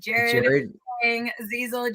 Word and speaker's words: Jared Chiang-Zeizel: It is Jared Chiang-Zeizel.